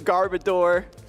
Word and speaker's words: Garbodor: I was the Garbodor before I realized the official pronunciation. Garbodor, as Boo would say. Well, odor because it smells, because it's...